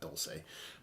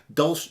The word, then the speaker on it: Dolce: Is it Dolce? It's Dolce. It's not Dulce.